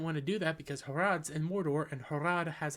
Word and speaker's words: Harad: I wanted to say Harsharad, but I know that's wrong. They're in Harad. Why didn't you just go to Harad? Oh, you didn't want to do that because Harad's in Mordor, and Harad